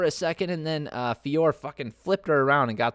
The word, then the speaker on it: Fiorot: her on for row i said ferro again it's fiore good god uh fiore